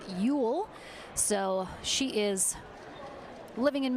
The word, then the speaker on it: Ule: Ule and Cassandra giry I made sure to ask Taylor specifically how to say her last name I was getting it wrong a little before it is Ule so she is living